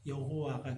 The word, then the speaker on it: 여호와: 그래서 그 히브리어 네 개의 글자 모음에다가 아도나이에 사용됐던 모음을 거기다가 갖다가 붙여서 발음을 해보니까 여호와가 된 것입니다.